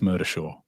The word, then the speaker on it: Murdishaw: It's spelled differently, but it's phonetically it's Murdershaw, but it's Murdishaw.